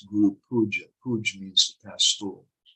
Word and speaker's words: Guru Puja: about parikram, or they say things, sometimes the pronunciation is a little funny. It's parikrama, not parikram. Or they'll say Guru Puj, it's Guru Puja.